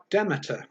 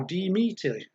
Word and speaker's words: Demeter: it's pronounced it's spelt d-e-m-e-t-e-r demeter or demeter or d-meter or d-meter we're gonna go with demeter i think um but was demeter